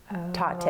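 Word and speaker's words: Tatte: And it says, I love you a latte. Tate.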